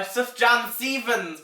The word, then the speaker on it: Sufjan Stevens: And my number 1 would have to be Mystery of Love by Sufjan Stevens.